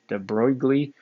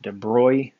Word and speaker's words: de Broglie: heard his name pronounced de broglie i've heard his name pronounced de bruy i'm not very good at french pronunciation so i'll kind of back and forth we use different versions of it but this de broglie